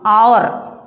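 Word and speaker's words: hour: So, A, our will come. But that is wrong. It pronounced our. This H is silent in this way.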